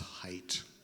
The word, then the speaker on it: Haidt: in the in-crowd now his name is pronounced Hite that may be the main thing you got out of everything I've said here at Jonathan height anyway yes so he's